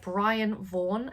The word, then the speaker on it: Brian Vaughan: So I picked these up because they are by Brian Vaughan, I think is how you say his name.